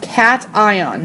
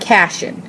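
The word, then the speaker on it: cation: become a cat and yes it's pronounced cat ion not casan cat and so it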